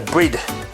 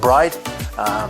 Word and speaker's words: Bride: You've got the Brid, or sometimes pronounced Bride, the seats in the car.